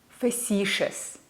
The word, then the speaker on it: facetious: sound out this word facetious here ci is not pronounced T it's pronounced sure because it's followed by a suffix we also need to